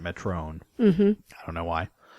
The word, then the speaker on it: Metron: It's spelled Metron. They pronounce it Metron.